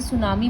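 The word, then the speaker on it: tsunami: और हाँ, silent letters वाले वर्ड्स को मत भूलना, जैसे सुनामी में टी साइलेंट है, साइकोलॉजी में पी साइलेंट है, उस तरह से.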